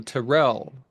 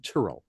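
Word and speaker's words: Tyrrell: that I had when it was called the Terrell Museum.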